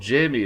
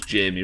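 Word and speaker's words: Jaime: that good at reading that's how you pronounce jamie right j-a-i-m-e that's how jamie lannister's spelled i assumed judging by the one example i have that that's pronounced jimmy am i wrong i mean i ain't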